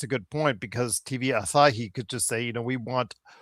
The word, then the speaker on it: Asahi: You have all of of the um uh CyberAgent and and TV How How's that pronounced? Asahi.